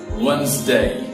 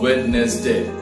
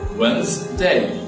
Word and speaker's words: Wednesday: beautiful picturesque picturesque after that comment comment don't pronounce it cut or comment comment last but not least our favorite Wednesday Wednesday not witness day Wednesday Wednesday so there viewers please repeat after me